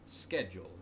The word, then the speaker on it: schedule: originates from greek and typically speaking a lot of greek loanwords that begin with uh s-c-h like the word school um are pronounced sk schedule in this case whereas it's words like schmaltz that came from german that get that that kind of sound um so really i